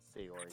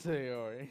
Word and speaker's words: Sayori: Sayori. Sayori. Sayori.